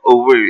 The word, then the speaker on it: Owerri: tell us, "Get choka Owere weregi Owere eweregi Owere." Yeah. So Exactly. that's the right pronunciation, but now it's called Owerri.